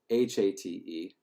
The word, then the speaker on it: hate: In fact, the Kamikawi word for onion is H-A-T-E. It's pronounced hate, but it looks like English hate, and it is a solid one.